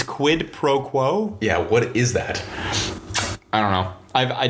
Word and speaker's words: quid pro quo: what are you skipping quid pro crow they can you have me all messed up now i said it right it's quid pro quo yeah what is that